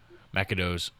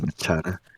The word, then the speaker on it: Machado: Wait, what' you say the pronunciation was? Feel like her name? It's Machado.